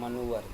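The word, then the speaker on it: manoeuvre: देखिए ये है आपका जैसे ये है ये सब आपके यहां पे देखिए इसे पढ़ते हैं हम लोग मनोवर देखिए कैसे लिखा गया आपका एम ए एन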